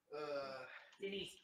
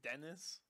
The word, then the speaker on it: Denise: It's Denise. My Denise. old Indian coworkers used to pronounce the name Denise as Dennis, and it drives me insane. Not D-Nice. That's, No. It is so factually wrong.